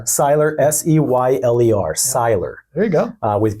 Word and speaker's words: Seyler: Seyler. Seyler, S-E-Y-L-E-R, Seyler.